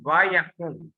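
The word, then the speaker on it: וַיָּקָם: So first, this is the Hebrew term vayakom. Okay, vayakom. This one. Okay. So we can pronounce like this vayakom. This word is accented millet.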